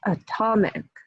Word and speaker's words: atomic: So you can see how atom, the stress is on the first syllable, right? Atom. But when we add the syllable ick to the end, it becomes atomic.